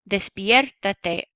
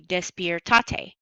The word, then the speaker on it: despiértate: Now I had to add the accent mark in there so it sounds like despierta, because without that, when I add the syllable with the te, it would be despiertate. Despiertate does not sound like despierta. So I add the accent, despiértate.